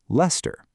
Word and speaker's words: Leicester: You might also encounter place names that are not pronounced how they are spelled, like Leicester in the UK, which is pronounced Leicester.